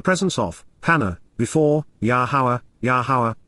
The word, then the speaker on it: Yahowah: of, panah, before, Yahowah, Yahowah, the proper pronunciation of Yahowah, our Eloah, God as directed in his Torah.